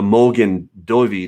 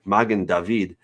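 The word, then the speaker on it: מגן דוד: a star okay the the mogan dovey heard magen david in in better hebrew pronunciation in my opinion um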